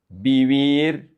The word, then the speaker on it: vivir: In here, it's going to be very important to pronounce the correct vowels. E. Beber. Beber. Because if you don't do it, then you're going to pronounce vivir. Vivir, just like beber. The only difference between these 2 words are the vowels. This is beber. This is vivir, ee.